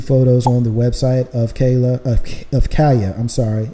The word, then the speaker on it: Kaiya: There's 2 photos on the website of Kaya. I'm sorry. It's probably pronounced Kaya, spelled Kaiya, Kaya Gosley.